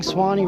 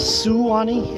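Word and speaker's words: Suwannee: Foster wrote the song Swanee River uh even though the name of the river is suwani s-u-w-a he shortened it to two syllables because it fit there in the song way down it's currently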